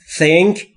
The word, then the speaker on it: think: تلفظ th در think. Think. زبونتون پشت دندونهای بالا سعی میکنید بگید سه سمیه.